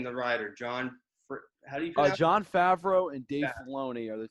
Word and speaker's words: Favreau: always known about like john fairview uh i think i said it wrong yeah favreau yeah he was in